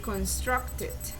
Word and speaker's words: constructed: final is construct so the rule says when the final sound is a t already then you pronounce it with idi so in this case the final sound is t so you say constructed constructed their their a